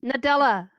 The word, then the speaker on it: Nadella: Nadella.